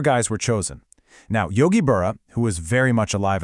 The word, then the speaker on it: Berra: He calls it the Bura effect. Yep, that's B E R R A, pronounced just like the legendary baseball catcher Yogi Bur.